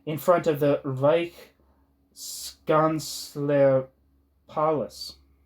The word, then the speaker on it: Palais: front of the Reichskanzler Palace. I don't know if I'm saying that right. Palais, maybe. That's how you pronounce that last syllable.